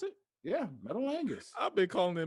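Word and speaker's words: Metalingus: on my playlist come on now this list metal angus is truly one of the greatest theme songs that's how you pronounce it yeah metal angus i've been calling it metal metallicus for the longest it's okay ultrabridge no offense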